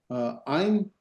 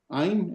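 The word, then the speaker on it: אֵין: Ein, remember there's our diphthong. Ein, and then the I doesn't have a pronunciation, so Ein meaning I, so I'm I.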